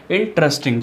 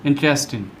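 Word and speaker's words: interesting: उसके बाद है इंटरेस्टिंग, क्या होता है इंटरेस्टिंग, जबकि इसका जो सही उच्चारण है वो है इंटरेस्टिंग। इसको बोलिए इंटरेस्टिंग, कैसे इंटरेस्टिंग, ही is very इंटरेस्टिंग गाय, शी is very इंटरेस्टिंग girl, ठीक है इंटरेस्टिंग ना कि इंटरेस्टिंग, ठीक है इंटरेस्टिंग।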